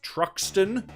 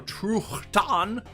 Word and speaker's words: Truxton: also included the games Truxton, or Truchtan, however you prefer to pronounce it. I've heard it both ways.